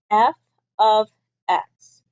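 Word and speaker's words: f(x): a different ation that's all it is we pronounce this as f of x so this F parentheses x is pronounced f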